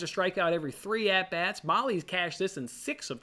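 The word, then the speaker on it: Mahle: better one is Tyler Molly how do we pronounce this guy last season that we butchered Tyler Maui Maui Maui okay take him squirrel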